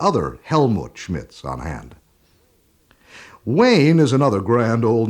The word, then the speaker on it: Wayne: alien to Germany that everyone pronounces it Weine when they see it written. And the only way I can get it through to them how it's really pronounced is by saying, like John Wayne.